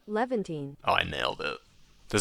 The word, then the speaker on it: Levantine: Levantine pronunciation. Levantine. Levantine. Oh, I nailed it. Does that come through? Hold on. Levantine.